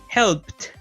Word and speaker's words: helped: So, when we have a voiceless sound like a P, the next sound, the ed ending, is pronounced with a T, ¿ok? Entonces, cuando tenemos sonidos voiceless, el ed se pronuncia como una T. Entonces, en este caso, en pasado participio sería helped, ¿ok?